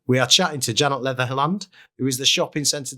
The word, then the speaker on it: Leatherland: How do you pronounce it properly? Leatherland. Leatherland. Yes. See, I paused in the middle. I know. Most people do Leatherhead. Leatherhead.